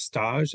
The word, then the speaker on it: Stage: Frances, I think her last name is pronounced Stage, S-T-A-G-E, has a couple different articulations of this idea.